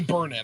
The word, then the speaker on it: Burnett: the kevin owens thing like burnett it's demi bernat i'm sorry i said her name wrong okay that yeah okay